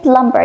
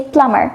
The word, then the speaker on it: plumber: For example, you don't say plumber. You would say plumber without the B sound.